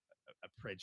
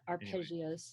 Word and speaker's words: arpeggios: really nicely with like some appre like appros is that I say it right arpeggios arpeggios yes and then you know